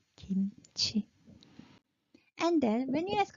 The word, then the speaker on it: kimchi: and that kimchi okay you're thinking kimchi yeah you're wrong no because Korean people no one pronounce kimchi we will pronounce kimchi and then when you